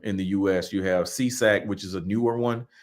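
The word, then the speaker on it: SESAC: three of them in the US you have seesac which is a newer one that's a SE CAC and they just pronounce it c s s we we just pronounce it cesac I don't know what the acronyms mean um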